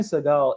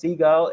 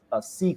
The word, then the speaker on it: Seagal: And also, his name is not pronounced Seagal; it's Seagal or something like that.